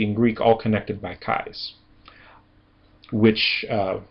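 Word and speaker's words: καί: When you have these two together, it makes a long i sound as inle. And a fairly important word and a very common word in Greek that ha that has this dip thong in it is kai.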